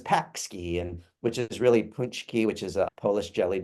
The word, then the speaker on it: pączki: his name is Paczki, and which is really Punchki, which is a Polish jelly donut we have here in Michigan that's spelled Paczki.